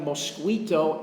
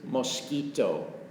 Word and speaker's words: mosquito: we see these everywhere be careful with the pronunciation that is a mosquito it looks like mosquito it is not it is mosquito that is a mosquito